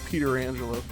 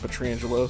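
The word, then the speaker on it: Pietrangelo: bruce boudreau calling him peter angelo maybe that's how you actually say his name but everybody's always said petrangelo so i go up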